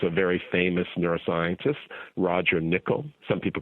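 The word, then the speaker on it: Nicoll: postto with who's a very famous neuroscientist Roger niichel some people call him Roger Nicole correct pronunciation is Roger nickoll Roger is a synaptic neurobiologist at UCSF and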